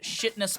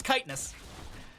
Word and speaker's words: chitinous: Full W build with shitness plating. I'm sorry, it's chitinous. Chitinous is, I believe, how you pronounce it properly, but every time I look at it, that's where my brain immediately goes to.